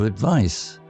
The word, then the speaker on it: advice: Or, she gave me a good piece of advice. Note the difference between the noun advice, pronounced with an S sound, and the verb advise, pronounced with a Z or Z sound.